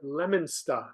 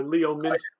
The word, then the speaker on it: Leominster: And I had my stomping grounds in north central Worcester County, out in where we call it Leominster or Leominster.